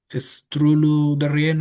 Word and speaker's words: Strullu-Derrien: So, we have the honor to have with us to Christine Strullu-Deria. I'm hoping that I'm pronouncing your last name correctly.